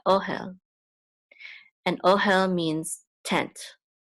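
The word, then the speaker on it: אֹהֶל: syllable so it's hell the accent is on the syllable right here oh hell and oh hell means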